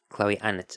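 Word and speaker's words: Chloe Annett: her own name so I'm going with how Chloe anut pronounces her own name Chloe an it yeah yeah I called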